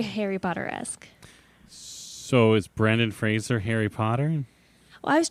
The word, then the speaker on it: Fraser: It's pronounced Fraser, not Fraser.